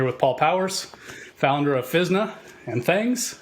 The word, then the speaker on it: Physna: Physna is short for physical DNA, and that's why we pronounce it Physna and not Physna.